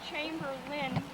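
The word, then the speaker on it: Chamberlin: so her name is chamber Lynn and we pronounce it more of a limb than a lamb because the a is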